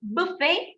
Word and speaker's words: buffet: So what do you notice in this? We are not pronouncing your T. You get it? We are not pronouncing the T.